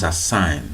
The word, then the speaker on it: sine: is a Zion cellphone I preferred pronounce a sign not some sign short form is a